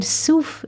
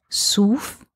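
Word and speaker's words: סוף: papirus or bambook but the letters summer vav pay are not just soof the name of the plant but if we read this word with a different pronunciation sof it means end so the sages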